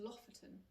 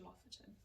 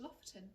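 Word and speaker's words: Lofoten: and you're heading north you must be going to loferton okay i'm sure that's not how you say it but you know what i mean l-o-f-o-t-e-n it's like lotherton what's loft it's like you must go to lofton it's beautiful and essentially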